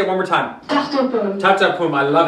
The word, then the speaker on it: tarte aux pommes: So today we're actually going to make a apple tart, or actually in French, wait, I'm going to pronounce it, tarte aux pommes.